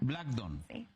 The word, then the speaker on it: Blackdawn: Black Don, aunque se escribe con A y Wn, Black Don.